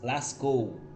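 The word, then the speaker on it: Lascaux: de lascou lascou é uma cidade da França se escreve l.a.c. é é k u x lascou aí ela lá tem uma a caverna né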